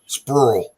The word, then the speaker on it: Sprewell: It's like Sprewell Bluff, right below there. It's pronounced Sprull.